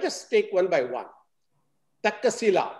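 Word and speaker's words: Taxila: take one by one takila that is a pronunciation I learned which means is a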